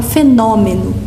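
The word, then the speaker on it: fenómeno: Nós falamos fenômeno e escrevemos com acento circunflexo no O. Eles falam fenômeno e escrevem com acento agudo.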